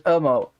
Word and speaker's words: UMMO: know, if I haven't, UMMO, 1 M, but there's 2 M's. No. I can't, I'm too Dutch. I have to pronounce it as UMMO. Double M means, Short foul.